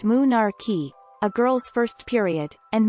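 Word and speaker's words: menarche: cycle menstruation occurs between monarche pronounced moonarchy a girl's first period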